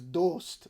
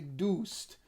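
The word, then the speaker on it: دوست: So the word for friend in Persian is dost, but Iranians, Tehran people in particular, will say doost.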